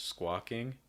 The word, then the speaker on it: squawking: if you hear squawking so again this is more of the ah sound in american english squawking squawking where what you're doing is you're opening your mouth wide and raising that back your tongue ah ah some other words that